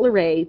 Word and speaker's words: LaRae: Her middle name is not LaRae, but it does rhyme with okay, so you know.